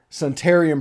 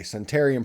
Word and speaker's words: Suntarine: Aiden Williams and um Centurion Perkins I've been pronouncing his name wrong for a year he we corrected that today sentarian Perkins and we're going to